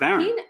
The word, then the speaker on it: Aaron: but but you know Aaron is pronounced Aaron not a Aon you might know Sports